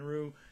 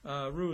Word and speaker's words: Ryu: going to be Hyun-Jin Ryu. Yes, we're calling him Ryu because it's not Ryu, it's Ryu in Korean, so we pronounce him Ryu.